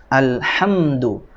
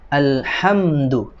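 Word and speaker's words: الحمد: Alhamdu, alhamdu, alhamdu, ya, bukan alhamdu, ya, itu mendengung.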